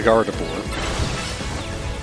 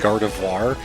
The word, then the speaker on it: Gardevoir: Well, we're going to decimate the Gardavore. Garbador. Sorry, I said the name wrong. I think I tried to mix Garbador and Gardevoir and it came out to something entirely new.